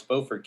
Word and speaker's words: Beaufort: is that charlotte or come on dwight it's beaufort county come on oh we're gonna have to go through some pronunciation issues here i'm from jersey and i got that one down there hey we're we're mid-atlantic we're like maryland you say you say buford's it just sounds something like really hickey i